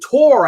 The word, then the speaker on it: Torre: Sigmund Tor. I think he pronounces it Tor.